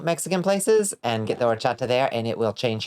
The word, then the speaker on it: horchata: You find the, like, auténtico Mexican places and get the horchata there, and it will change your life. You work with someone that pronounces it horchatter.